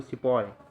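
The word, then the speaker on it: sepoy: सिपोय army, वही उच्चारण वाली समस्या, सिपाही को सिपोय।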